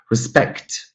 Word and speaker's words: respect: Respect, respect, regardless of whether we use respect as a noun or a verb, it's always going to be the second syllable here.